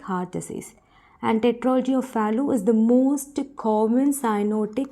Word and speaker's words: Fallot: So T is silent over here, so it is called as Tetralogy of Fallot.